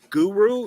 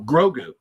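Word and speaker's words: Grogu: Funko Pop of uh Guru is that how do you say the little Yoda's name oh grou grou but it's the baby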